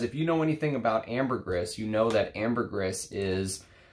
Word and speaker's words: ambergris: Great information on there, and it is, according to him, the people in the trade pronounce it ambergris, not ambergris. It is supposed to be with that S at the end, so it's ambergris.